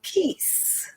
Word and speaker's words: Keith: So let's talk to Keith. Is that the right pronunciation? Sure, Keith.